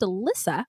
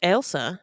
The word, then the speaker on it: Elsa: give him a ride oh you know what I think it's Elsa Elsa oh Elsa yeah we've been saying it wrong the whole time okay we did apologize in advance though true true we it up guys her name is Elsa we did Elsa sorry